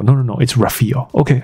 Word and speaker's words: Rafael: 是 Rafael 那他就说 No, it's Rafael OK, I trust you Rafael Nadal，我们